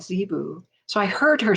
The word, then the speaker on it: Zibu: healing symbols and she said they are called zebu so i heard her say it there's no question about how to pronounce it and she wrote it in the